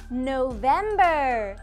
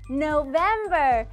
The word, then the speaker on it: November: November. 혀끝이 앞니 뒤를 미는 거예요. November. 따라해봐요. November.